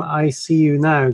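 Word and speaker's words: EyeCU Now: yourself and how come ICU Now came about. Sure. So I got started with ICU Now, and by the way, it's spelled E-Y-E, C-U Now, instead of the letter I.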